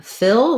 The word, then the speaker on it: Phil: associate for f and it's just like the word fill as in fill it up um fill a container um watch out that you use the if owl don't let that become more like a feel we don't want that tense e sound we want to have that relaxed if sound fill so punxsutawney phil um